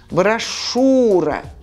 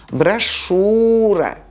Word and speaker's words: брошюра: и точно так же в слове брошюра после сша мы пишем you a произносим у брошюра и в слове парашют